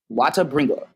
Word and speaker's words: Watabringuh: My stuff is so confusing to say, and that's spelled WATABRINGUH. Watabringa. I purposefully misspelled that because I thought it was clever.